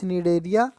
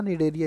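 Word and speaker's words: Cnidaria: अच्छा, निडेरिया, वैसे सी साइलेंट होता, निडेरिया ही पढ़ा जाता है।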